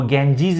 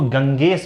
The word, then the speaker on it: Ganges: तो याद रखिए इसका प्रोनाउंसिएशन गैंजीज होता है। मैं इसलिए कह रहा हूं, मैंने किसी को सुना था वो गैंजीज इसको गंगेस बोल रहे थे, इसका प्रोनाउंसिएशन। तो इसका सही प्रोनाउंसिएशन है गैंजीज। द इंडस, और ये द